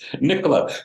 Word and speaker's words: Nicola: And she's like, there's no cola. It's Nicola.